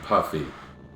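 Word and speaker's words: Yuffie: Fury you right she's supposed to be pronounced yui I think I've learned that in the past by people coming in and correcting my pronunciations if it started with a p would anyone be saying poofy no they'd be saying puffy that is what they'd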